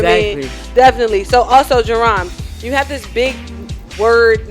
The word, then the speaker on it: Jaron: So Jaron means cry of rejoicing, and the Hebrew is the Hebrew variant, and it's spelled Y-A-R-O-N, and it's Jaron. So that means that again means cry of rejoice, shout of rejoice.